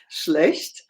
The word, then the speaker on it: schlecht: Schlecht. That's not schlecht, so easy because we have SCH. This is pronounced like the SH in English.